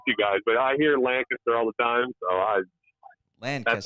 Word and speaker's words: Lancaster: Also, it's Lancaster, not Lancaster.